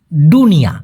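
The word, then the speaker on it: dunia: বা সন্তানকে কোলে নেওয়া ডুনিয়া আমরা দুনিয়াটাকে বলি দুনিয়া তাই না? দ উচ্চারণ করি দুনিয়া। আর মালয়েশিয়ান ভাষায় একই রকম শুনতে কিন্তু হবে হচ্ছে দুনিয়া। মানে ড দিয়ে।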